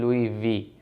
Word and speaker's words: Loewe: Techno caiman 30 लुई वी addition, लुई लुई नहीं लुई वी, LOEWE, यहाँ पर ये स्पेलिंग लिखी हुई आ रही है।